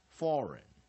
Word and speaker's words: foreign: Second syllable, weak syllable. Without. E as IG silent. Foreign.